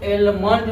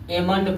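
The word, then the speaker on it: almond: इसको क्या पढ़ेंगे, इसको एलमंड नहीं पढ़ा जाता है, इसको एमंड पढ़ा जाता है, एमंड पढ़ा जाता है।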